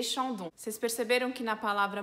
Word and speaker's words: Chandon: E na palavra Chandon a gente tem de novo o AN, que é o som de ON, que nem EN, EN, ON. E temos o ON, que é um som de com nariz, ON.